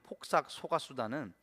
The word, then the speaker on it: 폭삭 속았수다: 발음이 얼마나 어려운지 열심히 연습했습니다. 폭삭 속았수다. 아이유와 박보검이 주연으로 나오면서 화제를 모은 폭삭 속았수다는 단순한 드라마를 넘어서 우리 모두가 품고 있는 가족에